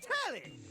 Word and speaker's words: Telly: The name's Telly. Rhymes with Nelly. Like, whoa, Nelly!